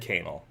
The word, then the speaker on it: Canal: 1 Seattle Washington 98107 and I said canel because that's how you pronounce it um uh right of